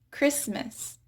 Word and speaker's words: Christmas: Christmas.